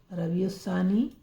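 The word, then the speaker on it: ربیع الثانی: सा रवि सा ननी अब यह जो है य साइलेंट रहेगा अलिफ लिखने में तो आएगा बोलने में नहीं आएगा रब सानी हिंदी लिखवा दे इसकी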